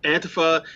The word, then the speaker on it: antifa: what's its history well antifa that's how it's pronounced antifa is short for anti-fascism and this lineage goes